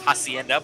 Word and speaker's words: Henda: dealership here in town Henda Ford of course that's with an H Henda but the H is silent so he does the